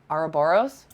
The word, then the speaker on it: Ouroboros: Oh God, I don't know how to pronounce I've never said your second name. Ouroboros? Yeah, you did it.